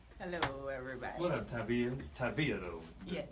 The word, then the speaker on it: Tavia: Tavia though. Yeah, Tavia. Emphasis on the V.